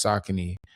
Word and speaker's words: Saucony: So when the company came out and and said that it's really pronounced sakin like I I figured out I was doing it wrong. I saying it wrong.